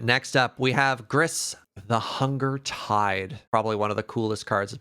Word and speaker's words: Grist: a loyalty counter on grist and repeat the process sorry grist or gree gree grey uh gris you do pronounce the t okay minus two yeah